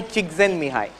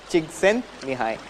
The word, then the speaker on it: Csikszentmihalyi: If you learn how to spell the name and pronounce it, I'll tell you. It is Mihai Csikszentmihalyi. Mihai Csikszentmihalyi.